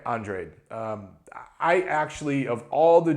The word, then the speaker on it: Andrade: It looks like Demetrius Andrade. That's what you want, but they pronounce it Demetrius Andrade.